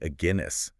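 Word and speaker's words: Aguinis: Herman agus Aus yeah pronounce it like ainus you know like the beer oh like the beer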